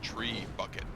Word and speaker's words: trebuchet: say these trebuchet is the correct pronunciation is tree bucket ah yes tree buckets